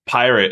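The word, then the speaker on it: Pyrt: new uh a new company now it's called pirate it's spelled p-y-r-t and it's basically the exact same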